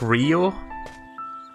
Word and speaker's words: Ryo: See, his name is spelt R-Y-O, so it's like Rio. But everyone calls him Dio, which I'm guessing is like the actual pronunciation.